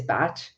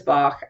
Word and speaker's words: Bach: Bach, Edward Bach, and let me just say with all love and appreciation for him, he called himself Edward Bach. His pronunciation of his name is Bach.